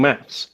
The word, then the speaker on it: maths: Because that's the proper way to say it. With the THS.